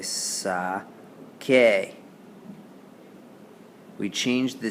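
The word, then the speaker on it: saqué: So we don't say sase, we say sake. Sacaste, saco, those are all fine. Those all make a k sound, like in sacar.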